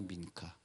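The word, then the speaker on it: מנחה: 여기 히브리 말로 발음해 보면 민카입니다. 민카.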